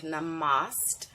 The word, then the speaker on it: namaste: Namaste. Namaste. I love using that as a greeting. Namaste. You may have seen that word before. It looks like namaste. If you look at the correct pronunciation, namaste.